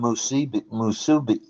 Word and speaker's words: musubi: That's what you get with the spam musubi. How do you say that? Musabi? Wasabi? Musubi, yeah. Musubi.